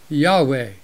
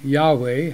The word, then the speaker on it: Yahweh: calls himself something else spelled y-h-w-h which this version pronounces as Yahweh let's look at this